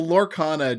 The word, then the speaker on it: Lorcana: how so yeah well lorcana just dropped okay which is Disney's uh Magic killer oh yeah yeah yeah yeah it's not how do we spell that lore what lorcana l-o-r-c-a-n-a like Laura and Arcana wow okay yeah is